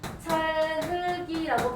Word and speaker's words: 찰흙이: 음절 끝소리 규칙을 먼저 하면 안 되는데 그러니까 얘는 연음이 된 후에 연음만 돼야 되는데 그래서 찰흙이라고 발음하는 게 맞는데 얘를 연음을 하지 않고 바로 뭘 한 거예요?